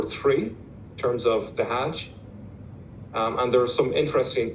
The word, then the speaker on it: hajj: now what's interesting is the word hajj is a direct arabic borrowing from the hebrew hague in fact in some arabic speaking countries including egypt they still pronounce it as hag so it's directly from